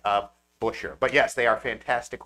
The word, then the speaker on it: Buescher: Come fight us for the correct pronunciation of Busher.